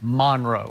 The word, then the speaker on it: Monroe: North Central North Louisiana Monroe right that's how you say it Monroe cuz when I was there I thought but they say Monro right mon Monro so when you were